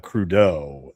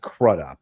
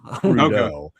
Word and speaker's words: Crudup: And forgive me, but uh Billy Crudeau, that's how you pronounce his last name. I know. I I used to pronounce it crudup. And no, it's not. Yeah. Yeah. Crudeau.